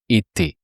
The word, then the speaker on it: était: So then in the imparfait, you replace the ending, the RE, the R sound by AI plus a silent ending, but the AI sounds E, so you say était.